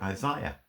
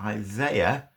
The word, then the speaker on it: Isaiah: right is a ih so Isaiah seems to me a more accurate pronunciation than Isaiah and I was talking